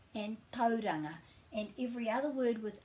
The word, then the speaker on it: Tauranga: It doesn't change into ow, so it's not Kauri and it's not Tauranga. It's au. Kauri and Tauranga. Kauri and Tauranga.